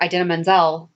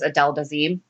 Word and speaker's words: Idina Menzel: won an award oh john travolta butchered her name and that's what she said was adele dazeem or that's what he said he called idina menzel adele done scene oh so that's a